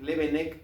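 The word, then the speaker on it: Leeuwenhoek: Levenec es la forma en que se dice Leven Hek, la forma en que se escribe.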